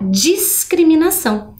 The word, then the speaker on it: discriminação: diferente da palavra discriminação olha o som quando eu falo a palavra ação automaticamente eu percebo que apesar de ter o encontro do s do C eu consigo ouvir o som da letra S como também o som da letra c na sílaba cri né ó discriminação diferente né